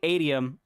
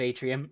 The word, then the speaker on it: Atium: It's apparently Atium, or Atium. Atium instead of Atrium. And I've been saying it wrong this entire time.